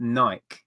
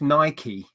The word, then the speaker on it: Nike: in a mood about the fact that it's Nike. Spelt with just an E. It's not I. I'm like, whatever. We generally in the UK we call them Nike, don't we?